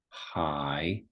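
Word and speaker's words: 海: Hai.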